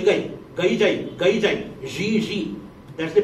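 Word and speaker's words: Gigi: Some people said, jai jai, gai gai, gai jai, gai jai, ji ji. That's the pronunciation in French.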